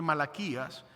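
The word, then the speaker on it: מלאכי: hoy me gustaría que fuéramos al libro de malaquías que es un profeta en el Antiguo Testamento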